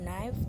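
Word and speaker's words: knife: और नाइफ, तो यहाँ पे के साइलेंट है।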